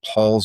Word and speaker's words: Pahls: other one that I don't think is, I think it's in the suburbs, but Paul's Market. Oh, okay. It's PAHLS I've Market. seen that name now that you spell it.